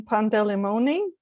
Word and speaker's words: Pandelejmoni: asking in advance but is this a correct pronunciation of your last name pandelimoni yeah right that's correct okay um so it's